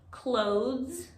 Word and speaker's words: clothes: english first clothes clothes where we ignore the e and we put the s right after th clothes but most people especially here in new york city say clothes like close the door i love your clothes